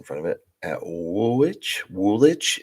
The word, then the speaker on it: Woolwich: Woolwich? Is it Woolwich or Woolwich? Do I pronounce the W there?